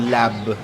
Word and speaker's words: larb: Itong larb o lab na sabi kasi pwedeng hindi pinopronounce o yung tamang pronunciation wala yung R.